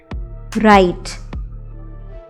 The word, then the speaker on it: write: Write. W-R-I-T-E. So what is this word? Write. Do you hear a W sound in this word? You don't, right?